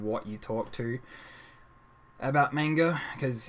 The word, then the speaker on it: manga: It really depends on who and what you talk to about manga, because in Australia and English it's pronounced manga. Other people say manga because they're like the people who try hard.